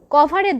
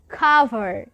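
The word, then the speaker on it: cover: না, এটি আসলে কভার নয়, খাবারের সাথে সম্পৃক্ত একটি উচ্চারণ হবে। কি হবে? খাভার। খাভার। খাবারটাকে একটু অন্যভাবে উচ্চারণ করব আমরা।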